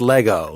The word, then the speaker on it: Lego: It's Lego with an E at the end. Lego, but it's still pronounced Lego.